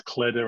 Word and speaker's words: kläder: So, and in Swedish, that's better because clothing is kläder and it rhymes with väder, which is weather.